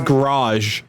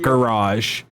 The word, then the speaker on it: garage: fine that's fine it's the way he pronounces garage as a single syllable I meant to mention that oh my God a bothered me too I hate it so much it pisses me off in the garage he pronounced this as garage and not garage I knew garage it